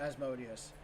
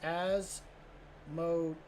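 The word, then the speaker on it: Asmodai: Oh, okay, so I mispronounced Asmodeus, because it's not Asmodeus. It's Asmodii? Asmodii?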